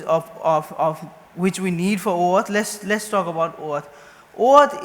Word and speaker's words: OAuth: And also OAuth is pronounced as I said, OAuth, and it's not same as Auth0.